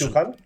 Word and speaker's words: Byung-Chul Han: ¿Cómo se escribe Entonces, Byung-Chul Han?